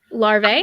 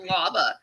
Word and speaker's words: larvae: half a day's ride you're saying the word larva larvae yeah am i saying it wrong first time you said it i swear you said lava i thought we were